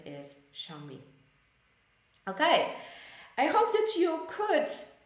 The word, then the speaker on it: Xiaomi: these smart things so we pronounce it as xiaomi xiaomi but this is also as I said Chinese company but the name is xiaomi okay I hope that